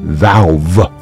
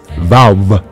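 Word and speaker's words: ו: Vav makes a V sound, but is also used as a vowel, making either an ooh, ooh, ooh, ooh, or an oh. Sound.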